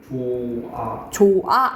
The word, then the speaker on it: 좋아: 이거 어떻게 좋아 이렇게 발음하니? 좋아 이렇게 발음하잖아요.